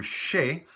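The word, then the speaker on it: chez: to a person's place we use the term Shay and sometimes pronounced to say without the H sound ishe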